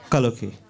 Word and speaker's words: Kaloke: Okay, first, I forgot to thank a lady by the name of Sandhya Kaloke. Did I pronounce it correctly? Kaloke, yes.